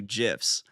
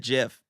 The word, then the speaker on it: GIF: Both GIF and GIF with the hard and soft G are commonly used, but the creator of the file format stated it is pronounced with a soft G as in GIF.